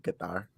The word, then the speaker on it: Qatar: You're saying it like a Texas oil man. It's actually Qatar. So yeah, if you want to be cultured, it's Qatar.